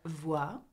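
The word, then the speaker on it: voient: But you do not pronounce the E-N-T.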